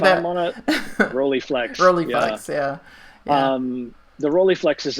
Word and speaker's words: Rolleiflex: if I'm going to pronounce this correctly, a Rolleiflex, or how do you say if that? I'm on a Rolleiflex, Rolleiflex, yeah.